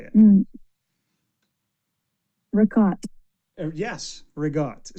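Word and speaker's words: ricotta: Reott. So, you cut it off at the end. There's no a. You put a g in there for whatever reason. And that's what you say.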